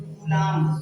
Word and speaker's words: Coulomb: और इसे देखिए एक बार फिर से मैं लिखता हूं कूलाम, बट इंग्लिश में लिखेंगे तो कूलाम COULOMB साइलेंट होता है।